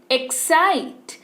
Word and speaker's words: excite: एस सुनाई दिया, आपने एस बोला अपनी मुंह से, लेकिन क्या स्पेलिंग में हमने लिखा? लिख ही नहीं सकते ना, रूल है एक्स के बाद एस नहीं आएगा, लेकिन उच्चारण जरूर होगा।